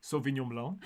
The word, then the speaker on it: sauvignon blanc: can sample wines at various different Wineries and Sauvignon blonde or how do you pronounce that sauvignon blanc yeah that is the is the most popular